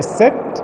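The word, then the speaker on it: Aset: Isis or Set, that is the Egyptian way to say her name.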